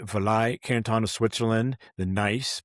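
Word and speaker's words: gneiss: You mentioned in the Vai Canton of Switzerland, the nice, by the way, that's spelled G N I SS.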